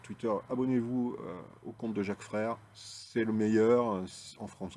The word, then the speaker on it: Jacques Frère: au compte Twitter de Jacques frère donc chaque frère comme ça se prononce bon vous le trouverez